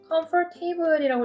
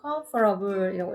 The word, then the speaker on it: comfortable: comfortable이라고 읽으면 안 된다 그랬죠. comfortable이라고 읽어주셔야 되고요.